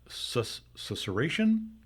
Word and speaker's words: susurration: I love the word susurration.